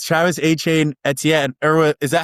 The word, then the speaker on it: Etienne: It's Travis Achain Etien. Or is that how you pronounce it, right? Didn't he say that's how you pronounce it? Travis Achain is how you pronounce it.